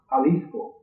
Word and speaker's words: Jalisco: Today it's pronounced Jalisco.